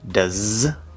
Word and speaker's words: does: does tom okay again the end of does is a z does when does tom okay